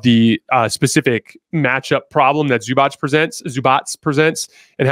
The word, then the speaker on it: Zubac: Here, they're going to actually run through Zubac in the post. Zubats, I should say. I'm trying to learn how to pronounce these guys better.